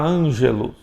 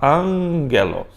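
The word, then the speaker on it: ἄγγελος: Também veja que o gama, então, antes de outro gama tem som de N.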